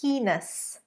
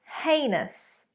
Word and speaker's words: heinous: Right guys, number 1, often mispronounced as heinous, heinous. In fact, it is heinous, heinous.